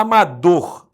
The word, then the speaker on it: amador: Olha a letra A amador a sílaba tônica de dor então a palavra oxítona agora a outra palavra